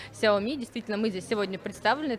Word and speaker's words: Xiaomi: названиях да спасибо большое что кстати назвали правильно звание наш компаний оно произносится именно так xiaomi действительно мы здесь сегодня